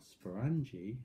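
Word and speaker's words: sporangia: is the spool bodies what i call sporangie and my daughter causes sponge because it rhymes with orange and there right you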